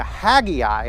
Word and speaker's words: Haggai: chops ready Zephaniah yeah the Hagee I happy I to me sounds like haggle like you're giving back